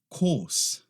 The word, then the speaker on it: course: Course. Course. O que é o problema com essa aqui? Primeiro, para começar, em inglês britânico, não pronuncia aquele R, course. Em inglês americano, course, tá?